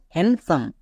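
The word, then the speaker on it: handsome: কোথায় কোথায় সাইলেন্ট থাকে রুলস হচ্ছে এন এর পরে যদি ডি থাকে বা জি এর আগে যদি ডি থাকে তখন ডি টা সাইলেন্ট হবে যেমন দেখো হ্যান্ডসাম হ্যান্ডসাম একে আমরা ভুল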